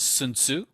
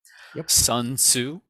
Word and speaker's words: Sun Tzu: it was 500 bc so i think his pronunciation is sun tzu sun tzu you know for those